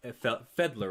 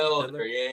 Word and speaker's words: Felder: a little bit of backstory on who Oak Fedler, right? Is that how you pronounce his last name? Felder, yeah.